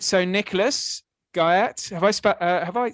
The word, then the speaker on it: Guyatt: Um and the last name is Guy. Like the guy at the porter's lodge.